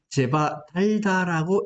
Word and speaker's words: 제바달다: 제파달다인데 읽을 때는 제바달다라고 읽어요.